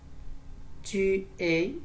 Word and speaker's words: tu es: Tu es. Tu es. Non, on ne prononce pas le S.